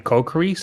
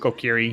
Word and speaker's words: Kokiri: Barrel doesn't really need to do Child anymore, unless they find the Kokiri sword.